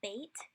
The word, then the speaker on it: Bet: Bet is the letter that has the B-like sound, like in boy. When it has this dot in it, and we'll talk about what that dot is a little later, it has a strong B sound. When it does not have this dot in it, it has like a V type of sound.